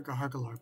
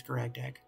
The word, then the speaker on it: Garagdag: I mean, I call her Gahargalor, but like the technical pronunciation that it says when you hover over her is Garagdag.